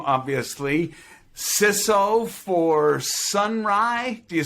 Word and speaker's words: Sonrai: perfect eric's the first name obviously cisso for sunrise do you say sunrise sun ray how do you pronounce it sunri sunri okay i missed it